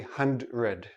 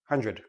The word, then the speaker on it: hundred: dr we don't say hundred okay it's too difficult for the tongue to make the quick switch so this sounds like jr han dread han red hundred now this goes with